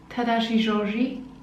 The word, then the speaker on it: Tadashi Shoji: something now for tadashi Georgie tadashi shoji I'm pronouncing that correctly tadashi shoji yes anyway he's a Japanese designer doing the